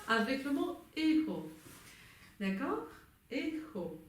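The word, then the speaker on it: écho: Echo. Avec un petit H prononcé.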